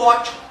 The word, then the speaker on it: óptico: Lá era chamado de vértice, agora é centro óptico. Ou centro óptico, não tem problema pronunciar o P, né? Embora a gente geralmente não pronuncie.